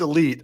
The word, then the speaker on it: Elite: It is pronounced Elite. I made the name when I was 14, and I was in fact the illest.